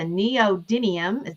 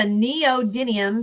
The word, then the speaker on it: neodymium: This is a neodymium. Did I say it right, George? Yes, I finally just learned how to pronounce that correctly. This is a neodymium sweet tweet in lavender.